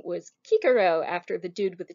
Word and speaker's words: Cicero: give you two examples cicero or kikero it's how you pronounce it in latin that order dude i